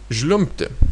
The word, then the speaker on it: žliumbti: remain in the infinitive, although the sound B before T is somehow reduced to P. So žliumbti, žliumbti, you're not actually pronouncing B, you're pronouncing P. So instead of žliumbti, you're pronouncing it žliumbti, žliumbti. And the P is even hard to hear.